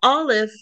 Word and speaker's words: aleph: The aleph is silent like air, or the ruach, the spirit.